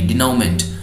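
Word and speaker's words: denouement: हैं उनका आउटकम क्या होगा, दैट कम्स अंडर डिनाउमेंट। स्पेलिंग देख लीजिए इसकी, एन डी ई एन ओ यू ई एम ई एन टी, डिनाउमेंट, और बोल सकते हैं इसको द फाइनल रिजोल्यूशन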